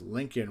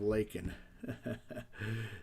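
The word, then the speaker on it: Laken: He even pronounced Lincoln Riley instead of Lakin.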